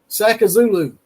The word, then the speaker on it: Sakazulu: Sakazulu. Sakazulu. It's like Shaka Zulu, the prince from Africa.